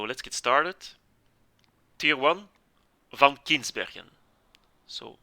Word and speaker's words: Van Kinsbergen: get started tier one van kinsbergen so van kinsbergen is a name you have to pronounce it as it is closest i can come in english in english is van kinsburgen anyway it's a tier